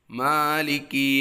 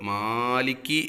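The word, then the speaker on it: مَالِكِ: മാലികി യൗമിദ്ദീൻ, അവിടെ സാധാരണ വരുന്ന പിഴവുകൾ, മാലിക്കി എന്ന് നന്നായി നീട്ടുന്ന ആളുകളുണ്ട്.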